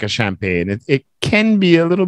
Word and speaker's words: champagne: Tempage? What? Tempage? Yeah, that's what it is. A what? Well, it's a French word. Breakfast. So it's pronounced a little bit different. In French, it's champagne.